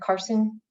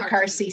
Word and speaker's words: Carsey: think it's UNH perhaps, the Carson School, if I'm saying that. If I'm not saying it wrong, please correct me. I'm new to this language, but It's the Carsey School. Yeah. Carsey, thank you.